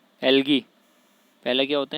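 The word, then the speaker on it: algae: पहला तो होते हैं एल्गी, पहला क्या होते हैं? शैवाल होते हैं, शैवाल, जिसको इंग्लिश में एल्गी भी बोलते हैं, एल्गी, ए साइलेंट है इसमें, एल्गी।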